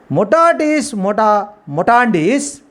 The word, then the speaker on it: mutatis mutandis: Mutatis mutandis. Mutatis mutandis means mutatis mutandis. That is the correct pronunciation.